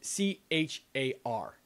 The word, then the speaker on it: char: And the one that throws people off in terms of pronunciation is that the data type called a character is very often abbreviated C-H-A-R. And because of that, people call it char because it comes off the tongue a lot more easily than care.